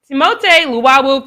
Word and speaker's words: Timothée Luwawu: For if you don't know who that is Timothée Luwawu Carbo. His last name is French, which is Carbo, whatever. So, but it's Timothée Luwawu Carbo.